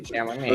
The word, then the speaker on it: Chalamet: Timothy Oh, Chalamet. you have to say it like that.